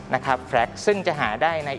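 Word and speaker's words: FRAX: เอง โดย ใช้ เครื่อง มือ ที่ เรียก ว่า fact สะกด f r a x นะ ครับ แพรก ซึ่ง จะ หา ได้ ใน อินเตอร์เน็ต นะ ครับ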